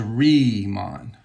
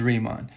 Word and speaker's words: Riemann: math go owls so when you have this german phoneme i e you pronounce or e i you pronounce it with the long vowel of the second vowel so this is re mon i don't know how to pronounce bernhard i guess it's bernard but this is riemann now if you turn